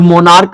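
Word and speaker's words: monarch: राजा, ठीक है, मोनार्क का मतलब राजा, तो मोनार्क में CH है। अब देखिए CH का जो उच्चारण हो रहा है, साउंड आ रहा है,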